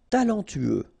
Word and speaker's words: talentueux: Talentueux, final X not pronounced, then you get this U together, then TU, tueux, talentueux, talentueux.